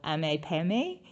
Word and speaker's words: AMPM: And another common convenience store brand is AMPM, or AMPM is how they say it in Spanish.